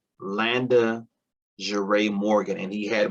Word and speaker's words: Landa: too girly and feminine nobody could pronounce landa i would get called london laundry london linda landis i mean you name it everything but landa i would get called